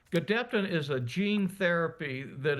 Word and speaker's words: Gedeptin: We've successfully completed phase 1 and a phase 1/2 trial, but this will be a phase 2 trial combining Gedeptin, you did pronounce it correctly, in combination with Keytruda, which is known as an immune checkpoint inhibitor.